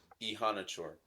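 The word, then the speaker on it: Iheanachor: Yes, just pronounce it Yes, for him. Ihanachor.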